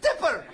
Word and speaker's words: Tipper: Who would elect a president whose wife's name is Tipper? It rhymes with zipper.